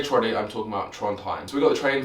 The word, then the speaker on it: Trondheim: down to Trondheim, and I always worry that I'm saying it wrong. I used to just call it Troddy when we were out there, Troddy for short. Yeah, Trondheim, it's Trondheim.